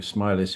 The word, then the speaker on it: Smellie: wanting to read through Smiley's history of the Covenant as it's called men of the common Covenant by um Alexander Smiley spelled smelly but pronounced smiley and um this is